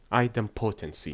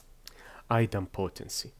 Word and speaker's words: idempotency: I keep forgetting the pronunciation for that word. Hold on, I am searching for it on the dictionary. Idempotency. Yeah. Idempotency.